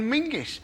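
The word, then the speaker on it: Menzies: a nonsense in fact you should pronounce it John mingis apparently it's to do with a defunct Scottish letter Zog you couldn't make that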